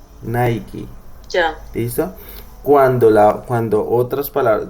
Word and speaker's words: Nike: estoy diciendo, en donde cuando la palabra en inglés termina en E no se pronuncia, excepto cuando está la K. Entonces por eso es que esta marca Correcto. se pronuncia Nike. Nike.